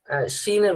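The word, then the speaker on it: ش: এটা হলো সিন আর শিন, দুইটার উচ্চারণ দুই রকম।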